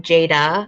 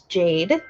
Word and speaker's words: Jade: it up i know um some people pronounce my name jada and i'm like no no it's jade not jada it's a pretty name but it's not my name so i try and